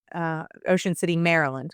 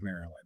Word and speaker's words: Maryland: Because there's 3 syllables in the word Maryland.